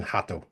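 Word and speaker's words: rato: is to remember that when the word begins with the letter R, in Portuguese, it's pronounced from our perspective like a H. The best one being hato.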